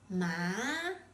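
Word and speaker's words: 骂: Finally, when you assign the fourth tone to it, it's pronounced ma with a sharply falling tone.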